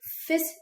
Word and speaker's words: fils: Okay, so you're gonna say fils unique. So in this one, we do not pronounce the L.